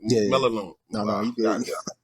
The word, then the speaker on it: Melinoe: Maloney Yeah, yeah. Melinoe.